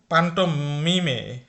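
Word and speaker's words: Pantomime: তো ডয়েচ উচ্চারণ হচ্ছে পান্টোমিমে।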